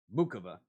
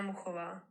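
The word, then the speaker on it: Muchová: the WTA website because I have always heard Mukova's name announced or pronounced Mukova. Everybody on ESPN was saying Muhova. Muhova. Like what the hell? Hi, my name is Karolina Muhova.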